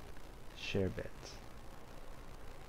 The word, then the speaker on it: sherbet: Sherbet. Sherbet. The R sound doesn't come out.